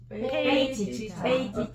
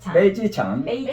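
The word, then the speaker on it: 飞机场: 우리 한국 발음하고 비슷하게 하는데 기가 빼 이렇게 안 나잖아. 기장 어떻게 나? 비기장. 지창. 자, 비기장은 페이지창. 페이지창.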